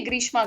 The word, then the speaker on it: ग्रीष्मा: लग गया, वरना पहले हमेशा मुझे रेशमा जी सुनाई देता था। हाँ, आपको ही नहीं, एक और एनालिस्ट के साथ मैं थी, वो भी रेशमा जी बोल रहे थे। जब मेरे ख्याल से मेरे प्रोनाउंसिएशन में प्रॉब्लम तो नहीं है ग्रीष्मा के? नहीं नहीं, ग्रीष्मा थोड़ा सा एक यूनिक नेम है यूजुअली, क्योंकि हम लोग